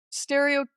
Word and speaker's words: stereotypy: I can never pronounce that word. Basically means Repetitive? Yeah, kind of stereotypical, but it's stereotypy.